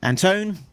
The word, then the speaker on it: Anton: Uh, Anton rhymes with phone.